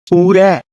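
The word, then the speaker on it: Who Dat: to repeat after me it is pronounced who that that's how you say not no no we don't change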